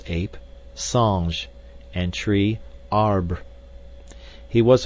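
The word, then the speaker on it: singe: in the same way he was taught to pronounce ape Sange and tree AR he was a most eager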